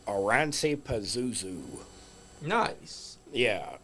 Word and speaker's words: Oranssi: And it's by a band called Oransi Pazuzu. Nice. Yeah, and it's spelt how it sounds.